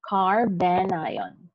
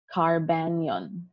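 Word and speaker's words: carbanion: again remember how they are pronounced this is a carbo cat ion and a carbon ion so do not read this as as carbocation or or carbonyl again this is a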